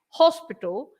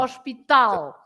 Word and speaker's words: hospital: You say hospital, so you write exactly the same, hospital, but you pronounce, you stress hos, and we stress tal, right? Oh. Hospital. So Hospital. the L always has the stress at the end.